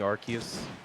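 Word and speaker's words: Arceus: There's so many there's so many different ways of pronouncing Archus. Yeah. Yeah. And only one of them is the one that I go with, which is Arus.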